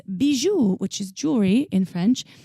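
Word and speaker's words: Bijoux Indiscrets: on B's you and discredits calm and I'll spell it for you because it is difficult if you're not French its Bijou which is jewelry in French which is bij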